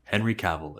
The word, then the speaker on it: Henry Cavill: You pronounce my name, Henry Cavill. It rhymes with travel.